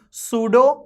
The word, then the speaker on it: pseudo: about pseudo carol carbon here p is silent pseudo chiral carbon means a